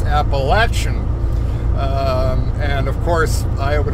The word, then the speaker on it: Appalachian: um confines of the Appalachian Mountains and I always pause when I pronounce that because up north uh when we went to school we were taught Appalachian and I've been corrected my entire life uh by folks that